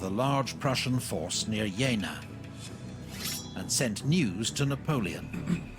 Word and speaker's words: Jena: large Prussian force near Jana and sent news to Napoleon oh yeah no it's not Gina it's Jana okay thank you for